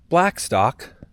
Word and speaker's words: Blackstock: Blackstock rhymes with Gamecock.